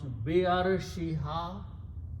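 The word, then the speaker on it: بعرشها: But be is a harf jar, its effect happens on the next word, and arshu changes to arshi. So together it is pronounced Be'arshiha.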